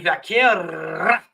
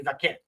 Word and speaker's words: Vaquer: The speech by Stephanie Vaquer, and I know that's not how you pronounce it. It's Stephanie Vaquer.